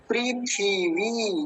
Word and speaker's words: पृथिवी: छोटी ई की मात्रा तो ध्यान से समझेंगे पृथिवी पृथी पृथी पृथी और कई बार तो मैं